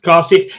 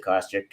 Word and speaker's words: Kostiuk: Jim always thought there was an A in there, and you always used to say Kostiuk, but it's Kostiuk.